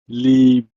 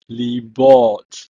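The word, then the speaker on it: לִבּוֹת: In plural, heart is libot, libot. Notice that the letter bet has a dot inside, so it's pronounced like a B.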